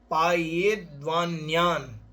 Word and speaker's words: पायेद्वान्यान्: धर्मामृतम, धर्मामृतम सतृष्णः, सतृष्णः श्रवणाभ्याम, श्रवणाभ्याम पिबतु, पिबतु पायेद्वान्यात्, पायेद्वान्यात् पायेद्वान्यान्, अंत में ना है, पायेद्वान्यान् ज्ञानध्यान परो, ज्ञानध्यान परो वा भवतूप वसन्नतन्द्रालुः, भवतूप वसन्नतन्द्रालुः।